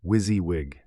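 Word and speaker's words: WYSIWYG: Wizzywig, pronounced Wizzywig, an acronym for what you see is what you get.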